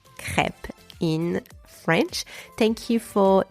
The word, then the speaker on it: crêpe: this episode so now you know how to pronounce crep in French thank you for tuning into forless